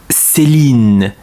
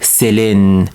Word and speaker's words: Céline: In Quebec, it is not pronounced like Céline, in. It's more like Céline, Céline.